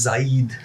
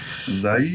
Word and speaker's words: Zaid: The most common one for me is Zaid. Zaid. Like it's Jade except with a Z.